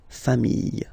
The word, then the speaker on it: familles: Famille, singular form. Famille, plural form. Same pronunciation, S, not pronounced, okay?